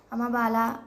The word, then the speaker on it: अम्बाला: Are Amritsar, Jalandhar, Ludhiana, अम्बाला and Chandigarh and Panipat. इसका अम्बाला जो है, इसका प्रोनाउंसिएशन अम्बाला है, ठीक है, AMABALA, तो अम्बाला, ठीक, अम्बाला कोई मत पढ़ना।